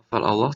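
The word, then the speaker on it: الله: Ini ada lafal Allah tafkhim ya, karena dibaca tebal.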